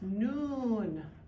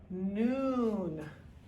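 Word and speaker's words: نون: on the middle and it's just like it's pronounced noon noon noon here we go that's hot nah casa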